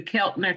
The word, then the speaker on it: Keltner: captain Channel how you say it again the Keltner channel right here okay how you spell that well I can't really see it k-e-l-t-o